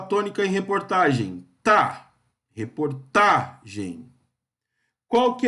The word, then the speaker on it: reportagem: Reportagem, qual que é a sílaba tônica em reportagem?